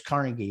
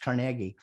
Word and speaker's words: Carnegie: people by dale carnegie i used to think it was carnegie but it's pronounced carnegie uh and i want